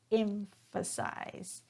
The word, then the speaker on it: emphasize: So here the verb is pronounced emphasize. Emphasize. So notice that I'm stressing on that first syllable, emphasize.